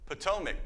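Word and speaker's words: Ptolemaic: I think it the P is silent. No PTOIC. Okay. I'm so worried about saying that word as a Oklahoma uh PTOAC period.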